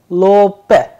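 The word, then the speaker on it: лоб: pair that is why the pronunciation is coming as low path instead of lobe look look policy policy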